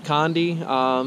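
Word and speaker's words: Conodoguinet: But nevertheless, what we're going to do is we are going to start here at the Condiguinet, I believe it's pronounced, or the Condi, some people say.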